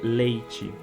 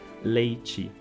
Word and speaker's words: leite: Então, por exemplo, a consoante T vai virar Tche, como por exemplo na palavra leite. Então, a gente escreve com T-E, mas a gente, em geral, no Brasil em geral, é pronunciado como leite. Em algumas regiões se pronuncia como leite, mas em geral se pronuncia como leite.